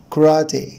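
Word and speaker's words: karate: طبعا هنا حرف الاي الاولاني ده بيتنطق شوا، وان الشوا ده بيبقى صوته قصير جدا، هنقولش كاراتي نوت كراتي كراتي. وطبعا هنا الاسترس حبايبي على المقطع الثاني من الكلمه اللي هو راتي كراتي كراتي كراتي.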